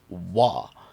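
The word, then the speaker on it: は: boop boop and boop when this is a particle though it is actually pronounced wah such as in watashi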